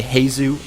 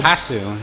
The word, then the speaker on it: HasuObs: I've heard people say Hasu. No, Hasu. It's like, you know what Hasu is, right?